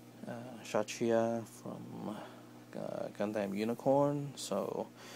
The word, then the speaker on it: Kshatriya: So again, they can't use the name Kshatriya from Gundam Unicorn, so they call this Kshatriya, I guess that's how you pronounce it, or Kshatriya, because the K is supposed to be silent, is what I heard.